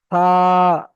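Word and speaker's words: ثا: তারপরে এই অক্ষরটির নাম হলো সা। সা, জিভের আগা এবং দাঁতের আগার সঙ্গে, সামনের 2 দাঁতের আগার সঙ্গে লাগিয়ে উচ্চারণ করতে হবে।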